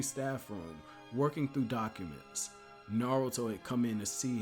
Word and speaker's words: Naruto: This student's name was 3 syllables, Naruto.